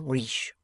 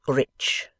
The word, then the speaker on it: rich: in a condescending manner our english adverbs do not terminate in mong and we pronounce the ch as if they were at before it we say rich reach remarked the foreign